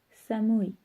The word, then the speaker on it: samui: qu'il fait froid, dire samui. Samui. Alors, on n'oublie pas que le U en japonais se prononce OU.